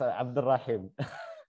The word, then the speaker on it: Abdurrahim: There is no silent letter in the second one. It's Abdurrahim.